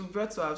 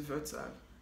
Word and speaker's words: Wrocław: I was still calling it Wrocław because Wrocław is how it's spelled. Like, if you're looking at it in English, it's Wrocław. But then in Polish, you don't call it Wrocław. You have to call it Wrocław.